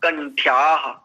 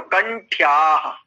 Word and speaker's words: कंठ्याः: सूत्र है अकूह विसर्जनीयाः कंठ्याः। इसका उच्चारण देखिए कैसे होगा, अकूह विसर्जनीयाः कंठ्याः, क्योंकि ठ आधा है और या में आ दीर्घ आकार है, तो कंठ्याः, कंठयाः ऐसा नहीं बोलेंगे, ठीक है।